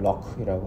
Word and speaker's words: lough: LOUGH라고 하는데 발음은 럭이라고 하고요.